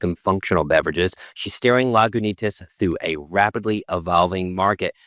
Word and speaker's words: Lagunitas: recording because I didn't actually know how to pronounce the brand. I thought it was Lagonatus and it's Lagonus.